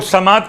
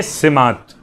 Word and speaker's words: سمات: خدمت میں کہوں کہ تلفظ لوگ سماعت کر رہے ہیں. لفظ سماعت نہیں، زبر کے ساتھ نہیں بلکہ زیر کے ساتھ. دعائے سماعت.